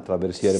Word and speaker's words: traversiere: che cos'è il traversiere si pronuncia l'italiana traversiere barocco Sì direi di